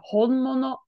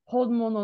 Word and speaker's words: 本物: So this shows up in the word honmono, which is like the original, the genuine article.